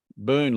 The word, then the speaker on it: Boone: darling from i'm in boone iowa which is northwest of des moines boone boone like a gold burn black white like a boon like a an abundance of things no boon b-o-o-n-e oh yeah yeah it's